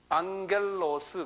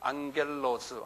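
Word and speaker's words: ἄγγελος: 앙겔로스 그래요. 앙겔로스. 한번 발음해 보세요. 입으로 발음하는 게 제일 빨리 자기 것이 돼요. 예, 좀 시끄럽게 말을 하세요. 예, 앙겔로스.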